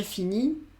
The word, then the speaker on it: finis: Je finis, tu finis, il finit, elle finit, on finit. Acuérdate que estas S, S y T no la pronuncio. Sigo diciendo fini, fini, fini.